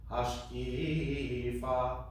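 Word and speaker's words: השקיפה: Hashkifa mimeon kodshecha. So I did the same thing as I explained before. Hashkifa, as opposed to hashkifa, because that puts the accent on the fa.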